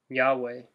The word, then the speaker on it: Yahweh: yhw H or YHVH one of the two pronounced Yahweh of almost people about the I am thing